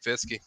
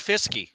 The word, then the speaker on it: Fiske: But overall, I'd pick Fiske. I like that Langston gives him a pronunciation on his last name that isn't right. He goes with Fiske. Everybody else calls him Fisk.